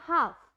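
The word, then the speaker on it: half: Like example मैंने बोला हाफ, हाफ में एल की कोई भी साउंड नहीं आती है, तो जो भी बच्चे हाफ को हाफ बोलते हैं या हाफ ल की कोई भी साउंड देते हैं तो वो आपकी करेक्ट प्रोनाउंसिएशन नहीं होती है।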